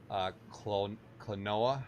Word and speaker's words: Klonoa: Max Online says I just got Klonoa.